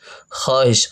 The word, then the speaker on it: خواہش: واو لکھا ہوا ہے، لیکن یہ واو وہ ہے جو لکھنے میں تو آتا ہے لیکن پڑھنے میں اسے استعمال نہیں کیا جاتا ہے، جو صرف لکھنے میں استعمال ہوتا ہے۔ تو اس کے ہجے ہم اس طریقے سے کریں گے، خے الف زبر خا، ہے شن زیر ہش، خواہش، خواہش نہیں بلکہ خواہش،